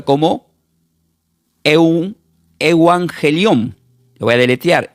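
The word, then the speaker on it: εὐαγγέλιον: utilizada porque la palabra evangelio del griego se pronuncia como eangelión.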